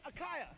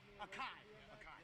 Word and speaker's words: Akai: Hey, Akaya, am I saying your name completely wrong? Akai. Perfect. Thank you, man.